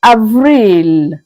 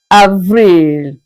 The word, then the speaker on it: Avril: April is pronounced as Avril, Avril.